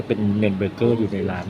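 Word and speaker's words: Nürnberger: แนว แบบ เนิ เบอร์เกอร์ เน อ่าน ว่า เนิน เบอร์เกอร์ เนิน นะ คะ เนิน เบอร์เกอร์ ัด วัว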